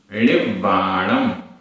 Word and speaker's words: णिब्बाणम: णिब्बाणम, णिब्बाणम आधा वा पूरा वा।